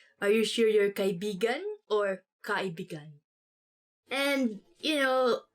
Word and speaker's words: kaibigan: this word, because like you have to say it like this: kaibigan. Kaibigan. Because kaibigan means friend. But when you twist it a bit and say it like this, kaibigan. Kaibigan. That's kind of, it's not really a natural way of saying it, but it actually means lover.